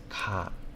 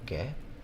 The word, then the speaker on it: 下: opposite, pretty much, of ka, below. Right? So basically it's like below the ground or above the ground. Does that make sense? And this one reads as ka or ge.